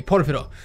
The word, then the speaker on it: Porfirio: Nej, Porphyro.